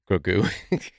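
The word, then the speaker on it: Grogu: Grou.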